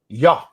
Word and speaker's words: Yah: It says Yah. Those are the first 2 letters. It's pronounced Yah.